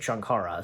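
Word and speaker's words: Sankara: Well, anyways, Indy goes in search of the magical Shankara, yeah, that's how you say it, Shankara, stone, and uncovers an ancient evil which threatens all who come into contact with.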